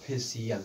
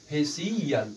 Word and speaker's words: facial: तो अब देखिए यहाँ सी हो गया, और सी के तुरंत बाद यहाँ क्या है, IA आया है, अतः इसको क्या पढ़ा जाएगा गाइस, तो इसको पढ़ा जाएगा फेशियल। क्या पढ़ा जाएगा, फेशियल। तो अब यहाँ सी का उच्चारण क्या हो रहा है, बड़ा स हो रहा है गाइस, ठीक है।